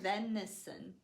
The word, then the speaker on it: venison: longer deer it's called venison venison but this is an eh both of these are schwa sounds uh uh so it sounds like a uh repeat nice it's weird